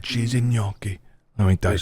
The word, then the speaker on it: gnocchi: That's right, cheesy gnocchi. Let me tell you. There's a G in the front of it. That's right, little G. Do you pronounce the G? Not really, no.